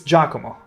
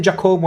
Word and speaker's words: Giacomo: pronunciation hurts my soul. Giacomo. No. Oh. Oh, that hurt. Oh, that hurt. It's Giacomo. Never say that again. Never say Giacomo again.